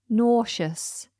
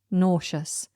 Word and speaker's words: nauseous: it is nauseous nous nauseous this one has a funny spelling Listen to This n a u s e o u s nous so it has a very unusual spelling compared to the pronunciation nauseous nauseous if you